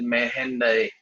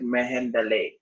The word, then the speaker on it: Mehendare: Like my surname is Mehendare. Now, how the other Indians will pronounce it as? They will pronounce it as Mehendale.